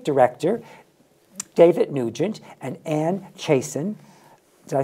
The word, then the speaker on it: Chaisson: And we have the artistic director, David Nugent, and Anne Chaisson.